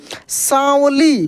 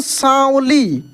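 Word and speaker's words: साँवली: पे दिख रहा है, इसको भी न के रूप में पढ़ते हैं, लेकिन इसका प्रोनाउंसिएशन, इसका ध्वनि जो है वो नाक से निकलता है। कैसे? सांवली। क्या पढ़ेंगे हम लोग? सांवली।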